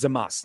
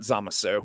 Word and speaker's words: Zamasu: You do not pronounce the U. That's not how Japanese works. Yeah, he's Zamas, not Zamasu.